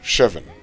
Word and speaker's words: chevon: It's pronounced chevon.